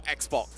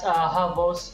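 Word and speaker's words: XBOCT: Is it pronounced as Havos or Xbox? It's pronounced as Havos.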